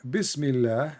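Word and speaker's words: بسم الله: So in the first one in Arabic, it says here Bismillah, and the Allah is written differently.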